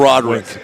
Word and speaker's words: Rodrigue: And the Rodricks here go Roderick.